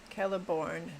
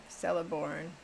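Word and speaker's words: Celeborn: Kelliborn, not Celiborn as well. What are you referring to there? Caliborn. Calib Brimbor. Caliborn. Not okay. I better repair before I do anything else. Oh, Gladriel's hubby. Kellibornne.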